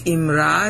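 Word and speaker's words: אמרה: in the Hebrew it's imra is a vocabulary form and the actual Hebrew is right here IM okay IM you pronounce it with an i all right not an A okay and that's right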